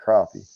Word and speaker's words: crappie: And but everywhere else, and it's spelled crappy, but we pronounce it crappie.